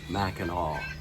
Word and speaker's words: Mackinac: go to mackinac island spell mackinac but it's pronounced mackinaw looks like i'm the